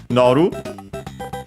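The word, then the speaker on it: 乗る: a compound verb, from noru. I think it's actually unaccented, so noru, because we have seen it, or at least I mentioned it, I think in Kirby's Adventure. Noru means to get on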